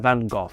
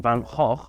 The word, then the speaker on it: van Gogh: In a letter to his brother, Vincent van Gogh, or as it's correctly pronounced, Vincent van Gogh, says, "If you hear